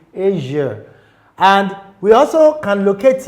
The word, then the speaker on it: Asia: We have it in words like Asia, not Asia. It is not pronounced Asia, it is Asia.